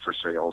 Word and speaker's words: Versailles: But it's near a town called Versailles, which is Versailles, but they pronounce it Versailles in Kentucky.